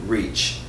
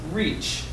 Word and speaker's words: reach: good let's try again we also have Rich and reach can you give me rich rich versus reach Rich good now let's try